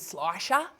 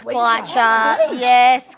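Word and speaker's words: Schleicher: Your name was actually one of the easiest to rhyme with if you can actually say it properly, but people really struggle with Slicer, don't they? Yeah, there's been a few pretty strange mispronunciations as I've gone along. The first couple years there was definitely a few Skleechers, Skleicher, the Skleech. But we had one that was Schlickalacka once, and I'm like, I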